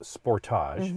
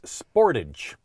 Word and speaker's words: Sportage: week by the way in canada it's pronounced sportage interesting right and in the u.s it's sportage i like sportage i